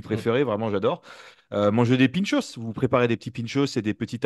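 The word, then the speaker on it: pintxos: je vois pinchapass voilà pinchos c'est P i n x t o s je crois si je dis pas de bêtises pinch parce que le le X en basque se prononce pinchos ouis voilà c'était l'instant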